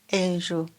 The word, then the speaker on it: enju: could you give the word for house again Angel Ang Ang Ang repeat again Ang good thank